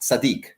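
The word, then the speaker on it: צדי: The tzadi, the letter tzadi, because it flows into the letter kuf, meaning kuf is the next letter after the tzadi, so it's very often pronounced tzaddik.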